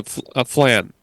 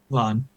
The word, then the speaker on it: flan: They've got churros, tile leches, cake, and uh flan. Fla. Nick, how do you say that? Fla. Flan. Fla. Okay, there you go.